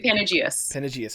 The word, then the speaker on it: Panageas: your name I want to make sure I pronounce it right is it penages yeah it's uh yeah panagius okay I kind of got the hint of